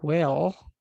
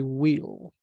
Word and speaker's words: will: Be careful with the pronunciation because if you say well, you're saying the adverb. I cook well. Yo cocino bien. So we don't say well, we say will. Will go to school tomorrow.